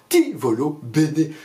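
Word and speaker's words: ti voglio bene: L'une des façons de se dire « je t'aime » en italien se prononce d'ailleurs « ti volo bene », je te veux du bien.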